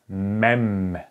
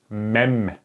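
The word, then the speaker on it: מ: okay, because this is Mem, if you remember. So it is, let me just use this other color. It is pronounced like M, like, for example, like month, okay, like month.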